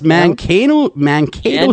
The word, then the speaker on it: Mankato: His name is Dennis Waskul, and he is a professor of sociology at, is it pronounced Mankato? Yes, Mankato State I've heard it University.